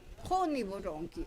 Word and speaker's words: Honiboronki: Honiboronki. Aquí viene. La segunda sílaba es abierta. Por lo tanto, debe de ir la acentuación de pronunciación en la primera sílaba.